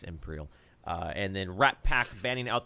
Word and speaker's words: Empyreal: Is it Empyreal? Have we understood the pronunciation? We'll go ahead. I've been calling him Imperial. Wow, that's Empyreal.